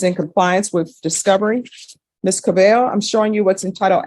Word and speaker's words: Cabello: All right, and are you Miss Cabello? Yes. Am I pronouncing your last name right?